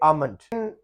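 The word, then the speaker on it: almond: और ये लफ्ज है आमन, जो हम बादाम खाते हैं, इसमें भी एल साइलेंट है। इसको हम कहेंगे आमंड।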